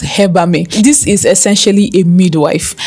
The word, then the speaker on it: Hebamme: Actually, it's not pronounced Hebamme, it's pronounced Hebamme.